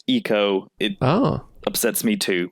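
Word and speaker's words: Ico: sister games so yeah Eco it looks like ieko but apparently it's actually pronounced Eco it oh upsets me too and then GI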